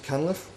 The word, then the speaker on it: Cunliffe: Mr Cunliffe, with a silent T of course, introduced that to the